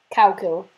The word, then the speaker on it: Kow Ciller: Cow kill. Spelled with a K. K-O-W. Cow. Cow kill. And the kill is spelled with a C. So it would really be cow kill, but who cares?